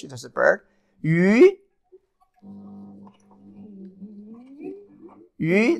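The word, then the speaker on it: 鱼: Yu, the second tone. Yu, that's a fish.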